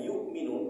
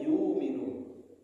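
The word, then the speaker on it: يؤمنون: Ada yang membacanya yu'minun seperti kita dengan hamzah mati. Ada yang membacanya yu'minun. Tidak ada hamzahnya Pak.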